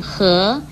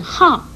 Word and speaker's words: 涸: 来的是，涸字除了念涸也可以念号，但是不可以念偏旁的固，如干涸念成干固这就不对了，请您特别注意。